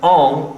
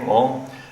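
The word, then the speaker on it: Ingres: And there's a drawing by the Frenchman Ong, I-N-G-R-E-S, Ong, lost conjecture of how it is pronounced, but the superb drawing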